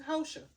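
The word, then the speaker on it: Porsha: It ain't Portia, it's Hosha. Cause I'm like, girl, how you talking about this lady husband?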